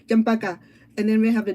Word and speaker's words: champaca: It's sound as it's spelled as the sound, champaca.